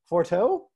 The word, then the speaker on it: Forteau: a while his name is is it forteau very good brad awesome you nailed it i